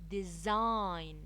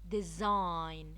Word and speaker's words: design: every word some thumb design some that be silent design design the G is silent not not the K